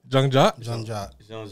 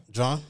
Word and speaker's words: Jean-Jacques: Jean-Jacques. That's the proper way to say it. Okay. Jean-Jacques Jean. All right. Jean-Jacques Jean. John?